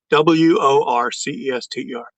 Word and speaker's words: Worcester: I'll spell the name out you pronounce it. W R W O R C E S T E R.